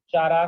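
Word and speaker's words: Chara: ये कारा, चारा, कारा, कारा प्रोनाउंस करते हैं ज्यादातर ना।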